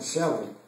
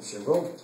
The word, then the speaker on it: Chevron: Mas nós também não podemos lembrar que aqui no Brasil, na plataforma da Chevron, lá muitos pronunciam Chevron e outros falam Chevron, está na Bacia de